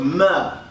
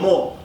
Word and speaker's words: mr: So the glyph for pyramid, phonetically, how you pronounce it was mer or more. So this is the glyph for pyramid. There were no vowels used during, ancient languages. It was all consonants, so it was pronounced, or it was spelled M-R, mer, or more. more, mer, however you want to pronounce it, is MR.